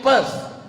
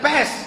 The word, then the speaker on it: Perth: I am going to Perth. Bukan pest. Kalau pest penyakit. Perth.